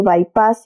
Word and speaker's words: bypass: bypass la voz inglesa bypass verbo que se pronuncia aproximadamente bypass y que literalmente se traduce como desviar o